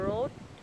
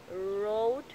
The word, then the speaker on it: road: Âm ở giữa này, road, ô, đúng không? Trong khi cái âm ở giữa này á, nó là nguyên âm và đó là nguyên âm kép, đọc là ở, o u á, ở.